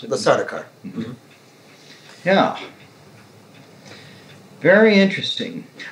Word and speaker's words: Sardaukar: As he is speaking to the Sardaukar, pronounce it? The Sardaukar.